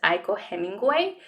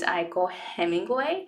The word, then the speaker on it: Aiko Hemingway: But now when I speak, I say, hey guys, my name is Aiko Hemingway. My name is Aiko Hemingway. So when you have stressed syllables, you will start feeling the rhythm, right?